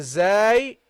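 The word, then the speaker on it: زاي: Then we got the zay, a light letter.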